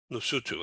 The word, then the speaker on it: Lesotho: Lesotho is that it Lesotho okay how do you spell that l-e-s-o-t-h-o oh and O is pronounced ooh yes listen to um